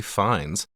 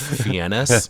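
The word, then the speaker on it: Fiennes: We've got Chef Julian Slowick, played by Ray Fines, which I always pronounced when I was a kid as Ralph Fiennis.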